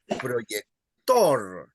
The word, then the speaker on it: proyector: But if a word ends in a consonant other than N or S, you stress the last syllable. That's why you would say silla, and then you would say proyector.